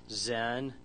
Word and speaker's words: Xen: The biggest ones that I know are VMware, which is about 15 years ago, 2001, Xen. It's pronounced like it's a Z, but they spell it with an X for some reason.